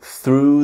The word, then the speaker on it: through: Like we have the verb to throw as in to throw something but it's the past tense is I threw.